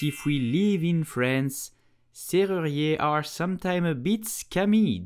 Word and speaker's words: serrurier: You will say serrurier. Serrurier. Now let's break it down. Serrurier. Yé. Serrurier. It's a free syllabus. Serrurier. Please practice at home. Did you know that if we live in France, serrurier are sometimes a bit scammy?